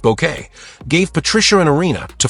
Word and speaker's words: Bucket: The pretentious yet oddly endearing woman who insisted her name be pronounced bouquet.